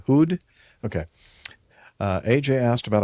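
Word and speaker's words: Houd: How do you pronounce his name? H O U D. Hood.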